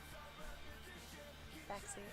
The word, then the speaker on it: Baxi: Hello, Baxi? X-Baxi? Spaxi? What is the proper way to say your name so I can remember? Baxi. Oh!